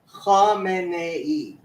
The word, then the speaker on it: Khamenei: Yeah, I mean, Khomeini, right? Khamenei. It's even got an extra syllable.